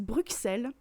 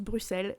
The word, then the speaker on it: Bruxelles: du coup il ya beaucoup de gens qui disent bruxelles alors qu'en fait ça se prononce bruxelles et donc moi j'ai